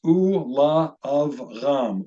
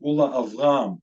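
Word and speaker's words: וּלְאַבְרָם: So in this case, this first word is pronounced Ula Avram, Ula Avram, and for Abram.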